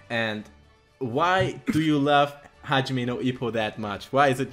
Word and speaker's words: Hajime no Ippo: Yeah, but Hajime no Ippo, did I pronounce it right? Yes, Hajime no Ippo.